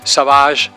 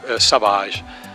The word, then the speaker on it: Savage: detective called savage and I took his name but with the French pronunciation so so Sahaj it is written like in English but Sahaj so it was my